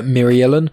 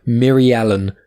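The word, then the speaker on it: Mirialan: doctor ustasia occur now eustacia occur is a myrialen now um it's hard to pronounce m-i-r-i-a-l-a-n myrialen myriellen and she is a former classmate of doctor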